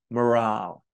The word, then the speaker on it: morale: Next, we have morale, which is spelt the same, but there's an E on the end, and it's pronounced differently, morale.